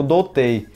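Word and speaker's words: 童貞: Ó aqui a nota pode ser pronunciado como dotei que significa virgem Pois é todo mundo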